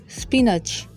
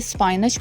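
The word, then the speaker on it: spinach: पालक, स्पिनच। कुछ लोग इसे स्पाइनच बोलते हैं, जो कि रॉन्ग प्रोनाउंसिएशन है। इसकी राइट प्रोनाउंसिएशन स्पिनच है।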